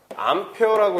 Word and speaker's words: 암페어: 근데 이걸 A라고 읽어? 아니죠. 여러분들 잘 아시죠? 이거 뭐라 읽어? 이거 암페어라고 해요. 암페어. 그죠?